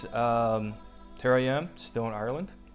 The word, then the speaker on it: Ireland: Hey guys, here I am, still in Ireland. Saying it right this time as opposed to last time. I was told I draw out Ireland, so it's Ireland.